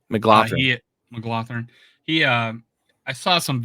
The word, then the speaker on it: McGlothern: No, with and there, McGlothern, I think it's I forget how to pronounce his name, but I think it's McGlothern. McLaughlin.